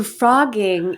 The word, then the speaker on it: phrogging: So frogging it's spelled PHROGGING, and it's okay.